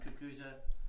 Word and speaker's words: cucuzza: Cucuza. Cucuza. Cucuza. Yes. Yeah. Okay. And it's spelled Cucuza.